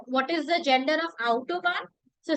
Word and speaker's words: Autobahn: And pronunciation of A, take care of it. Autobahn.